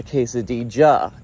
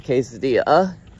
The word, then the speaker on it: quesadilla: from the Western world, the double L glyph is pronounced like J in all the South and Central American countries.